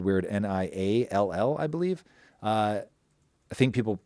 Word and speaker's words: Niall: It's spelled weird, Niall, I believe. I think people say Neil, but in my head I always say Niall because it's spelled so strangely.